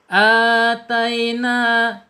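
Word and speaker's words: آتينا: Ataina, tai ya, lin, bacaan lin nih harus dimiringkan, harus lembut ya mengucapnya atau membacanya.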